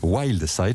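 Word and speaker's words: Wildside: à la production une société italienne wild side wild side se prononce bien son nom ne vous dit peut-être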